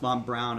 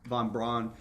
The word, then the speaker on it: von Braun: they had photographs of i guess it's pronounced mom brown i've always said von braun von braun um digging trenches you